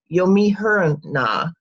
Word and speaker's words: Euhemerus: It's pronounced, I believe, Yomihuruna.